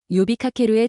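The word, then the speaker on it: 呼びかける: 요비카케루의 첫 번째 한자는 불을 호자입니다. 일본어로는 요라고 발음합니다.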